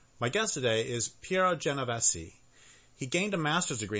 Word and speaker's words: Genovesi: i should start over is your last name pronounced Jenna Bessie yes correct okay so I'll start over at